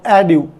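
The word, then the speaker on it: adieu: आगे देखते हैं अपन एड्यू, अडू वर्ड बोलते हैं इसको।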